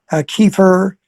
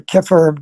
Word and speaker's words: kefir: Fermented foods are very good to eat, like kefir or kefir, depending on how you pronounce it, which is it's like almost like it's a Russian, it's like a liquid yogurt, uh, good yogurt.